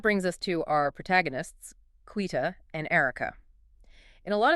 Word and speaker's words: Quita: Quita, and by the way, that's pronounced Quita, is stepping into a director-level position at M&G.